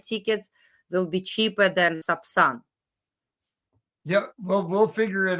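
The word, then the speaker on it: Сапсан: Subsan I I will write in Russian sub in Russian the sapsan sapsan it's a Russian B I see the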